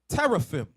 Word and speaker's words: teraphim: an image, and without an ephod, and without teraphim.